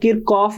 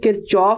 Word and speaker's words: Kirchhoff: बात बताता चलू कि यह जो वर्ड है किरचॉफ इसे बाज कात किर कफ भी प्रोनाउंस कर दिया जाता है लेकिन जर्मन लैंग्वेज में यह किरचॉफ प्रोनंसिएशन एक्चुअल नेम के साथ ज्यादा करीब है इस रूल के और